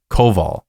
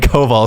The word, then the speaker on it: Kowal: in there because um a w is supposed to be a v in Polish um so Brian Koval